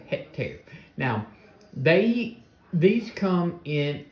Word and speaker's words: Hectare: the cjrb hectare okay at least that's how I'm pronouncing it is he either Hector hectare I think it's more of hectare now they these come